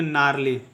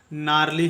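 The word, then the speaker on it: gnarly: आर एल वाई में जी जो होगा वो साइलेंट होगा क्योंकि वो एन के पहले आया है और इसका उच्चारण करेंगे नारली ठीक है इसका उच्चारण करेंगे नारली हम लोग नारली का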